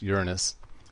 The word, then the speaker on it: Uranus: Jupiter followed by Saturn Uranus sometimes pronounced Uranus and Neptune and what